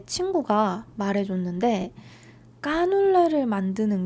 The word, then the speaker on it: canelé: 어 한국 사람들은 까눌레라고 발음해요 Ah, les Coréens le prononcent « kkanoulle ». 까눌레 전 정말 좋아하는데 J'adore